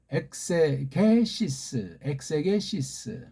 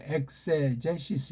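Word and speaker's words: exegesis: 자, 우리가 로마서를 헤게오마이, 그래서 엑세게시스, 영어 발음으로 엑세제시스 이렇게 하죠.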